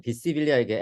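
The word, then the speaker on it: visibilia: 여기서 그 읽을 때 그 비지빌리아보다는 비시빌리아에게 S를 그냥 스 발음 그대로 읽어주시면 좋을 것 같아요.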